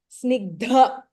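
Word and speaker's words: स्निग्ध: Snigdha. Dha is Mahapranah. We have Varnav Pratapavan.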